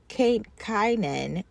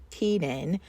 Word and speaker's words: Canaan: The English term Cananan pronounced Kynan or Kenan since circa 1500 due to the great vowel shift comes from the Hebrew